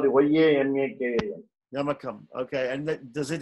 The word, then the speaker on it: yamakam: Okay, so Yamakam, it's called the Y-A-M-A-K-A-M.